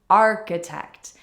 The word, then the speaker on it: architect: to spell this career Architect we have to stress the first syllable next one of my